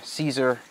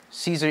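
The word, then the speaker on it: Siser: hands down hands down we all start off with sizer caesar caesar easyweed yeah that's how you pronounce it caesar right and they're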